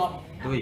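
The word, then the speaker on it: 对: คำ ว่า ถูก ต้อง ตุย ตุ อ่า คำ ว่า ถูก ต้อง คำ ที่ 3 อ่าน ว่า ตุ ตุ้ย ถูก ต้อง ฉัน เรียน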